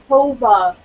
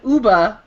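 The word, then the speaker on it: Ooba: The way he spelled it is O-O-B-A. It sounded like you were saying Hoba. No, I said Uba.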